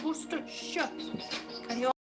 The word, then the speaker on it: Worcestershire: But I use Liam Perring's Worcestershire. Not Worcestershire, it's Worcestershire. Can you all say Worcestershire? There's no Shire in Worcestershire, although it does say Shire. That's not how it's pronounced Worcestershire.